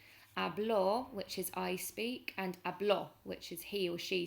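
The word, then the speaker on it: habló: or she spoke in the past you've got hablo with an accent on the o so the accent firstly changes how we pronounce the word puts the stress on the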